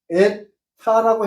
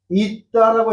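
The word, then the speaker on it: ήτα: 그 다음 이것은 에타라고 해요. 에라스무식 발음은. 그런데 그리스식 발음은 있다라고 해요. 있다.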